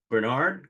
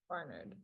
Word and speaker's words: Barnard: meantime you graduated from Bernard College Barnard yeah ah me and my pronunciation no I just I